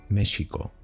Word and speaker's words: México: Incluso en algunos casos se debate también si la X de los Estados Unidos mexicanos debería pronunciarse como J o como SH, México.